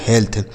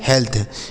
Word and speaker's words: health: HEALTH, तो एच से हो गया ह, ई ए का उच्चारण एक ही मात्रा, एल से आधा ला, टी एस से थ, लिखा गया हेल्थ। क्या लिखा दोस्तों? हेल्थ।